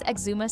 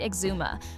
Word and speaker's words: Exuma: Why would the top affordable all-inclusive resort be located on an island most people can't even pronounce correctly? Hideways Exuma sits in Georgetown on Great Exuma, far from the crowded Nassau scene.